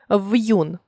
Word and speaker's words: в'юн: зілля 6 очі 3 характеррною для української мови є Роздільна вимова твердого приголосного Та я ю є ї Якщо між ними стоїть апостроф 5 в'юн тобто приголосний перед апострофом не пом'якшується вимовляється твердо тепер пропоную розглянути та